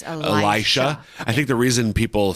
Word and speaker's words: Elisha: of Elijah the prophet I hear that sometimes I pronounced Alicia yeah I know is that different uh is that a different person or is that just a wrong person I think it's I used to say Alicia too I think I'm pretty